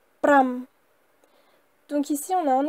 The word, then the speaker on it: ប្រាំ: Et il se lit pram, pram, pram.